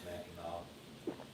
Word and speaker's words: Mackinac: I've actually been to Mackinac Island. Isn't it pronounced Mackinac or am I tripping? It looks like Mackinac. It's pronounced Mackinac.